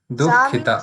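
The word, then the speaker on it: दुःखिता: Dukhita. Sa means Dukhita. There is a visarg also, right? So you have to pronounce that also.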